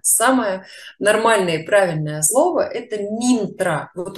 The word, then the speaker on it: мантра: до нас дошли знания потому что слово мантра на самом деле минтра так вот почему ментора